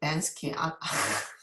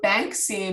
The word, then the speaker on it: Banksy: So, so the Banksy, sorry, I always pronounce his name like Bansky. So Banksy mural painting depicts a